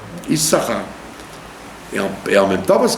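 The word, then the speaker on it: יששכר: Et on écrit avec deux signes, mais on n'en prononce qu'un. Issachar.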